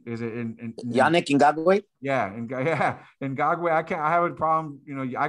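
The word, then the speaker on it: Ngakoue: Another one that I think stands out is who they signed is I can't even pronounce his name. Ngagwe, is it Yannick Ngagwe? Yeah, Ngagwe.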